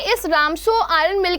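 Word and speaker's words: Ramsjö: RAMSJO लिखा जाता है लेकिन द करेक्ट प्रोनाउंसिएशन इज रामसो.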